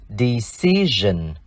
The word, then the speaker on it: decision: Decide có nghĩa là quyết định, và danh từ là decision. Decision. Đuôi s-i-o-n trong danh từ này chúng ta đọc là gen, vì nó đi sau nguyên âm i.